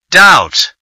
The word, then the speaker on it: doubt: silent letter is B doubt the silent letter is B use a dictionary to